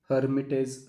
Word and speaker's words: Lhermitte: The first ancillary symptom is Lhermitte's sign. L is silent.